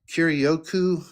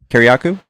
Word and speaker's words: Kiriakou: Hey, I saw your guy John Kirioku. Is that how you say his name? Kiriakou?